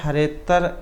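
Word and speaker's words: हरेऽत्र: यहाँ उच्चारण के समय हरेतर कहा जाता है, अवग्रह का उच्चारण नहीं होता है।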